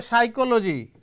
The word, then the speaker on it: psychology: this you can say psychology here p remains silent pneumonia here p remains